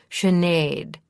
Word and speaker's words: Chenade: Yes, but accent the second syllable more. Chenade, she repeated.